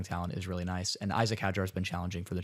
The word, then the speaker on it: Isaac Hadjar: I'll let you take Isaac Hadjar. Yes, Make sure I pronounce his name correctly. You actually did pronounce it correctly.